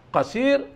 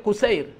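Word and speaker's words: قصير: Yang disucikan ma bainal qasiri ilal yahmum, yang berada di antara qasir. Qasir itu bukan artinya pendek ya. Dibacanya bukan qasir, kusair. Kusair.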